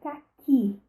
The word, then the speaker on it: caqui: Para representar, para a fruta, eu digo caqui, a última sílaba é a mais forte.